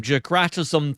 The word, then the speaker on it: Dijkstra: Every router builds a full map of the network, and this runs on, I'm going to murder this name, Jakratism theorem.